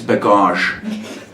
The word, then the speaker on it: bagage: Leave that bagage, that's French, folks, for baggage for you English speaking people, but in French it's bagage.